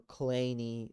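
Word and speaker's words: Kleene: Now, there I'm going to define an operator called the clean star or clany star. Fun fact, the guy who invented this would pronounce his name Clany, but his son was like, yeah, he made that up.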